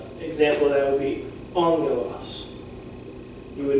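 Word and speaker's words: ἄγγελος: So when you learn this word, learn it angelos, don't learn it angelos.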